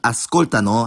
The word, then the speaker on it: ascoltano: One thing to note is that the third person plural conjugation ascoltano has the stress on the antepenultimate syllable, not the penultimate like the rest of the conjugations.